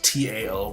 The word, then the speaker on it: Tao: Now, the word practice is akin to the Chinese word Tao, which is T-A-O, but it's pronounced Tao, and it literally means path, way, or road.